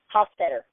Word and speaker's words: Hostetter: me I can hear how do you pronounce your name Hofstadter oh I wasn't I wasn't like my was pretty close not too bad it was